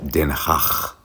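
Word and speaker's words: Den Haag: back home and I need to find the train to denh It's pronounced denh Welcome to The Collector hotel in the ha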